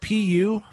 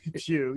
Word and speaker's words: Pew: PU, the PU Research Center. Pew. Yes. Is that how it's pronounced?